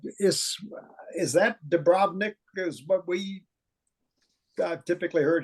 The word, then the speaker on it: Dubrovnik: you pronounced a city do you put the emphasis on the second syllable no on the first cell do Bob Nick or say is is that Dubrovnik is what we typically